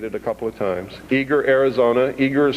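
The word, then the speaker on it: Eagar: Eager, Arizona. Eager is spelled E A G A R, Arizona 85925.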